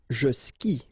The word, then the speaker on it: skie: And it's exactly the same rule, so you've got this after, but then clearly you don't pronounce it. Okay, elle joue. And then, je skie.